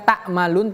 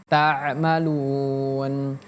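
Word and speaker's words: تَعْمَلُونَ: Huruf ain bukan takmalun tapi tammalun.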